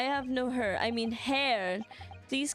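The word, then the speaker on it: Herr: is German for Mister it's pronounced like hair gotcha got hair hair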